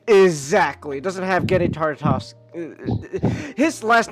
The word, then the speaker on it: Tartakovsky: It doesn't have Genny Tartakovsky. His last name is so fucking hard to pronounce. Andy Tartakovsky. Thank you, Nick. Tartakovsky.